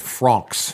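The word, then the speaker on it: Fronx: Like, how do you spell that? F-R-O-N-X. Francs.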